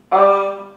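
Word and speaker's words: 儿: Nhi ở đứa trẻ, tiếng Trung đọc là ở. Ở là đứa trẻ. Bạn đọc nhé. Ờ. Đầu lưỡi cuộn lại rồi mới để ấn.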